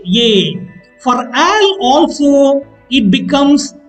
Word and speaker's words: est: Spelling est, pronunciation ye.